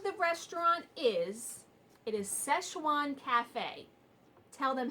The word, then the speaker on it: Szechuan: say you can't say it now you're not pronounce it right what the name of the restaurant is it is Szechuan cafe tell them how you say it love Saskatchewan that's what cafe Saskatchewan first of all he's